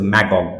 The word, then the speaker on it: Magog: You can pronounce it as magog because anglicized it.